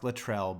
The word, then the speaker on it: Latrell: good I have to choke a yes it's pronounced Latrell but I know and let's not forget you